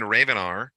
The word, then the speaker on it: Ravenar: a Ravenar, spelled like Raven and then AR at the end, Ravenar.